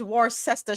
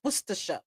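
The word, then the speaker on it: Worcester: Why isn't it war cester? It's worsha and a soldier speak up because you're the what?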